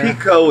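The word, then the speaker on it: Picot: put that on the Pico is spelled like it's a French word and it's because he's a guy from France and it's like peacock so it's like p-i-t-o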